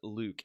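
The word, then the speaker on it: LIWC: But Luke, L-I-W-C. I don't remember. L stands for language. I don't remember what the other letters stand for, but it's pronounced like Luke, L-U-K-E, right?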